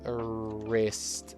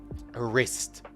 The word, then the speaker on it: wrist: It is the wrist. Remember, not W. And there is no W sound even though there is a W at the start. It is just wrist. A wrist with a silent W.